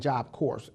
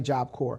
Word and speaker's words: Corps: Cincinnati Job Corps and I just learned today that that S is silent because I kept saying job course so if you're doing